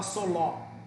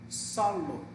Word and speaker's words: solo: Aqui é a mesma coisa. Solo. Você não fala soló. Solo.